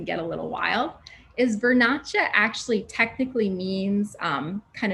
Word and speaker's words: Vernaccia: italian wines can get a little wild is vernacha actually technically means um kind of to come